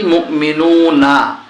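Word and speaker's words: مؤمنون: বানান করলে হচ্ছে কি মুমিনুনা যখন আমরা এখানে দেখুন থেমে যাব তখন উচ্চারণ হবে মুমিনুন আফলাহাল মুমিনুন মুমিনুন এবার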